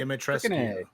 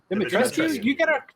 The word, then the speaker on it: Dimitrescu: Dimitrescu. Dimitrescu. You gotta pronounce all the letters. Yeah, All of it. Dimitrescu.